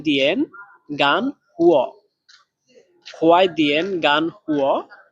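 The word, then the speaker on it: 干: তারপরে গান, গান, এই শব্দটাতে চাইনিজের 4 নাম্বার টোন ব্যবহার করা হয়েছে, তাহলে এটাও উচ্চারণ হবে ডাইরেক্ট নিচের দিকে। গান, গান, একটু দ্রুত নিচের দিকে পড়বে।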